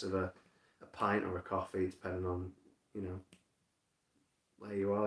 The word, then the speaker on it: Ko-fi: You can kind of just search coffee spelled with a K and Witch Hazel, it'll probably come up.